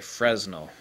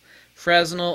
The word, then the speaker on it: Fresnel: If you actually watch Nikon's video, they actually say Fresnel. Okay, tomato, tomato, potato, potato. Fresnel is also a valid way of pronouncing it.